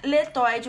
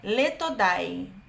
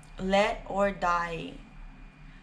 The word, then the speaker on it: LetoDie: Não é letoide, o pronunciamento é letodai. Tá escrito aí nos comentários. Observação, não estou escrevendo o nome dele, estou pronunciando o nome dele. Let or die.